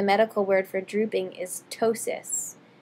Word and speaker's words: ptosis: word for drooping is ptosis the p is silent it's a greek language thing the p is silent so it's pronounced ptosis and you'll also see